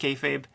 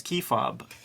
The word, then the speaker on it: kayfabe: come to the channel they hear us say cartoonist kayfabe but in person they say i love cartoonists key fob i get yeah yeah i have good friends that can't pronounce it and i know we've said it a thousand times back and forth yeah and it still comes out wrong kefabi yeah kefabi you